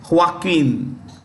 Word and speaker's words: Joaquin: us okay now Johnson Johnson is headed by Joaquin this J is pronounced with the ha H okay Joaquin duato that's the name of the CEO of